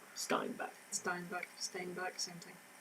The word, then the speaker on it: Steinbeck: Steinbeck, same thing. No, because if it was Steinbeck, it'd be an A, not an E. Steinbeck. Until this person comes up to me and tells me otherwise, it's Steinbeck.